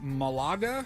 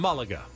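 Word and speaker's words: Málaga: someone will let well the action is on the first a so I don't know Mulligan Malaga okay we'll go with Malaga so Malaga was relegated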